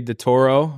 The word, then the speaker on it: DeToro: We got DeToro. Yep.